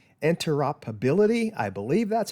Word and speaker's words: interoperability: Another good thing about Fusion 360 It is the, now this is a big word that I always have trouble pronouncing, interoperability.